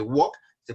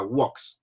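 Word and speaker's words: walks: vemos el primero que Wal se pasa a wals se va a pronunciar así W wals right wr study studies watch watches otra vez repetimos Wal wals ustedes please wals wals la l es muda no pronunciamos la l Entonces sería Wal Wal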